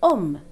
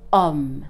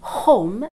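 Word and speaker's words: homme: silent it is not home it is not home remember that H is always silent so we're going to ignore it also in a previous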